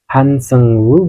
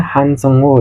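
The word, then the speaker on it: Han Seung-woo: Korea termasuk huruf Korea hansengwu bukan dibacanya hansengo ya tapi hansengwu pokoknya gitu atau kalian bisa panggil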